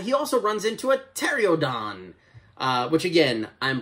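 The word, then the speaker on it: Pteranodon: also runs into a tereodon which again i'm pretty sure uh you pronounce the p in that word but i digress kong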